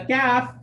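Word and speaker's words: ك: But like the letter Ta, the letter Kaf is unable to carry its sound when it's second.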